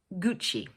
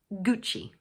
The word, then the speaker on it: Gucci: In English, we pronounce it Gucci. So the word has 2 syllables and the first one is stressed, like this, Gucci.